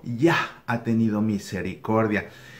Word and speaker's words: Yah: Yah, la primera sílaba, Yah. O Yah, o sea, pues con una H suspirada al final, Yah. Entonces, este nombre Yohanan, lo que significa es Yah ha tenido gracia o Yah ha tenido misericordia.